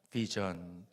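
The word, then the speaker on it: vision: 입술을 아래 혀에 지그시 물고 V 발음한다고 그랬어요. 비전. 함께 한번 해봐요. 비전.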